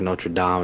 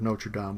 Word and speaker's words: Notre Dame: so you just said Hunchback of Notre Dame, which is probably the correct way to say it, but I say Hunchback of Notre Dame, and I think that's because of college football, and my wife makes